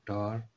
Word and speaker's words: tar: For example the टा sound in the word tar. Tar is normally pronounced with a stronger pop-up air than is present in the ta sound in the word star.